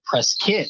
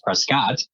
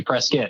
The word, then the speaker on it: Prescott: Prescott is how it's pronounced by the locals. Everybody else says Prescott. But if you ever visit, say Prescott.